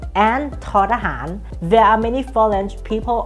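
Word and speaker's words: ท ทหาร: อ ท อ sound is like t or t sound in English that means English native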